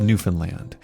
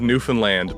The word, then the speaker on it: Newfoundland: And nice pronunciation of Newfoundland, by the way. A lot of people say Newfoundland, and it's a bit of a sore spot with us locals.